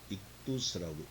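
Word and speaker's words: ἰχθύς: 원래 헬라어로 물고기를 익두스라고 읽습니다.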